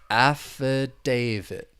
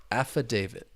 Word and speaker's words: affidavit: about quickly the pronunciation there are four syllables the stress is on that third syllable affidavit affidavit an affidavit so we're talking about